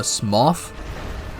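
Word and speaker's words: Smough: I primarily focused on uh Smoth. People here call him SMO, but I'm pretty sure it's actually pronounced Smoth.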